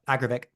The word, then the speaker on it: Agravic: the Adidas is it the AG how you pronounce it agravic yeah agravic agravic that's it yeah that new shoe um